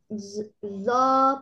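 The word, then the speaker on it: ظ: জিহ্বার আগা দাঁতে উপরের দুই দাঁতের আগার সঙ্গে লাগিয়ে মোটা আওয়াজে জ পড়তে হবে। একালিপটা নিয়ে জ উচ্চারণ করতে হয়।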